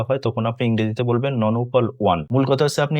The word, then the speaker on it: nonuple: বলতে এই যে সিঙ্গল ডাবল ট্রিপল এখানে দেখুন ননপল এখানে বাংলাও লেখা আছে ননপল দেখুন একই সংখ্যা যদি নয়টা হয় তখন আপনি ইংরেজিতে বলবেন নন উপপাল ওয়ান।